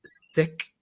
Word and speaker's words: Sikh: and and there's a large community of sick I know it feels like a weird thing you can just say six of six of six people yeah of six yeah um and so and I've never they were probably too gracious to like correct me but I've I've been calling them like seeks for like 20 years now so but thank